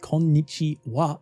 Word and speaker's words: こんにちは: Personally, I would add a little literal explanation that konnichiwa literally means as for this day. That's why it's hello, and that's also why it's pronounced as wa instead of ha.